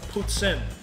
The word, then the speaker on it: poutine: For those wondering, poutine is spelled P-O-U-T-I-N-E, or poutsin if you're French. It's not P-O-O, blah, blah, blah.